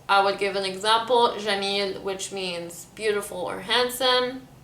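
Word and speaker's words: جميل: So I would give an example, jamil, which means beautiful or handsome. I would say handsome. It is pronounced gamil, so every j sound is transformed to g sound.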